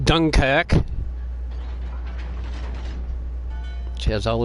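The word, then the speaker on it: Dunkerque: It's the Dunker Q, pronounced Dunkac, which has all its guns in the front.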